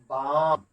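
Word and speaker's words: balm: ऐसे ही के बाद एल के बाद आ रहा है, इसका उच्चारण नहीं करते हैं, जैसे ALM। क्या पढ़ेंगे इसको, बाम। क्या पढ़ेंगे इसको लोग, बाम पढ़ेंगे।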